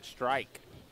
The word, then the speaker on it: Strike: Greg Strike is how you say his name, Greg Strike.